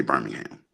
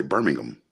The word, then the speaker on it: Birmingham: city in England okay in England they don't say Birmingham they say Birmingham right we say Birmingham they say Birmingham right same spelled the exact same way my city is